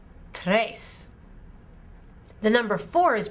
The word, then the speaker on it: tres: one more time dos the number three is pronounced tres in spanish tres the number four is